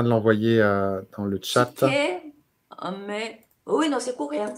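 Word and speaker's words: sikhye: Chiqué, mais. Oui, non, c'est coréen. C'est coréen. Oui, voilà. On va écrire comme ça. Oui, ça se prononce comme ça.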